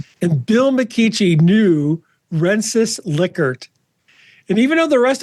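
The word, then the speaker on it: Likert: And Bill McKichi knew Renis Lickard. And even though the rest of us in the world call a Liyard scale, Bill told me his last name was Lickard.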